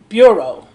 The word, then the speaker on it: bureau: And I'm pronouncing that wrong. Bureau.